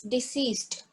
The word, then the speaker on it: deceased: Okay, so here it's not deceased, it's not disease, it's deceased.